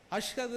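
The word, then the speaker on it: أشهد: சரியா உச்சரிக்கல அஷ்ஹது அன்ன முகமதியர் ரசூலுல்லாஹ் இந்த அஷ்ஹது என்கிற இஷ் என்கிற சொல்லை அழுத்தி சொல்லணும் அஷ்ஹது அன்ன முகமதியர் ரசூலுல்லாஹ்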